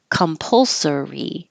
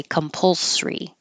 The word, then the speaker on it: compulsory: they get easier compulsory this can be pronounced with four syllables compulsory or you can leave out the uh and say compulsory Americans um will usually